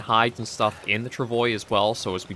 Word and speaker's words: travois: But we are making very good progress along here with the travois. And I am going to keep trying to use this pronunciation of it.